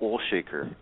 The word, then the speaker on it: Olshaker: guest author and uh documentary and filmmaker Mark olshaker uh welcome to the program and thank you